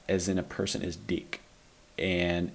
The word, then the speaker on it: dick: in a person is Dick and it helps if you pretend it's spelled D e e k um unfortunately the word